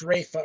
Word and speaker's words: Ralph: it might be ralph finney finney's ralph fines ralph finds his name's ralph well they call it well it says here ralph his name is pronounced rafa right ray oh that's right but it's spelled